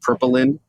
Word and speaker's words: Purplynd: hear all about it and make sure I pronounced the name correctly purpin yeah that's right got a awesome spelling p